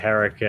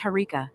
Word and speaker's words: Harika: How are you doing today, Erica? Are you well? Oh, moist boy, you never fail to make me laugh with your creative mispronunciations. But it's Harika, not Erica.